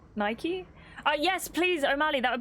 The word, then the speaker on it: Nike: The British way to say it is how it should be, but Nike is how it's said because it's an American company. So it's an American company, so it's Nike?